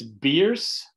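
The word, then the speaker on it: Bearss: here and one time it's beers as it's spelled here b-e-a-r-s-s named that for a guy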